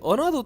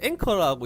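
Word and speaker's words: anchor: 여기 그 앵커 툴을 지금까지 어나더 툴이라고 제가 설명을 했습니다. 이게 제가 검색을 해보니까 앵커라고 읽더라고요. 정말 죄송합니다.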